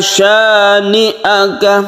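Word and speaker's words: شَانِئَكَ: Yang bunyinya itu sya'a. Kalau ini syani'aka, jadi nun, setelah sya itu nun. Dan ini bukan mad wajib. Inna syani'aka, jadi sya langsungkan ke ni'aka, satu alif saja atau dua ketukan saja.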